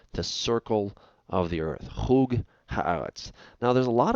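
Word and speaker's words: חוג: Now, this word chug, it's pronounced chug, not chug, but I just transliterated it there for you.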